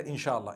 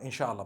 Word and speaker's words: inshallah: allah wills insha allah we all say together inshallah inshallah but we know in the arabic it's three separate words if allah wills right